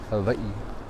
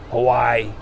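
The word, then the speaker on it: Hawaiʻi: to do it right it's not hawaii hawaii hawaii right it's not how you say it it's hawaii so the w is always a v right it's just little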